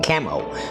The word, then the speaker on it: Camo: a software called Cameo c a m o camo all right camo is really how it's pronounced camo c a m